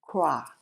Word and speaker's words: Croix: croix VI cross virgin island cross cross this is Tokyo Japan